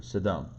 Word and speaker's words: Sodom: I'm going to say it like the Hebrew, Sodom.